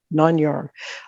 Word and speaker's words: Nāṉ Ār: Am I pronouncing it correctly? Yes. Nāṉ Ār.